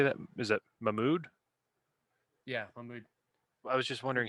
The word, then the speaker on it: Mahmoud: wait how do you say that is that mahmood yeah i was just wondering hey mahmoud okay okay um if he's in the dictionary